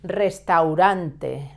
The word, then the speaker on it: restaurante: Restaurant, restaurante, restaurante, with a double R sound at the beginning and a soft R sound in the second restaurante. In the second R, el restaurante es.